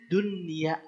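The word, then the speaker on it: دنيا: sukun ketemu ya tapi ini nama juga namanya juga izhar mutlak mutlak tidak bisa diganggu gugat kata ini harus izhar izhar artinya apa jelas tetap harus jelas maka bacanya Dunya dunia tidak boleh ini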